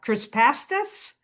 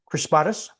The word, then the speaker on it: crispatus: newest one called and I'm probably going to pronounce it wrong uh chrispastasis crispatus chrispatus could we use a